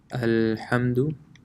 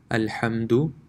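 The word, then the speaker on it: الحمد: So the first one would be pronounced Alhamdu. The dal is not stretched at all, it's a quick, you can say a quick touch of the letter Alhamdu. And the second is Alhamdu.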